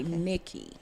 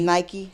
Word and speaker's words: Nike: me because sometimes they don't know how to pronounce it they'll say nicky okay so take away nike yes nike hats